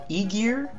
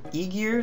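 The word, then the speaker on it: Ægir: to go with is um I'm told it's pronounced Eigar um Eigar.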